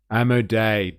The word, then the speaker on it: Amodei: Amodei, that's the one. That's how you say it.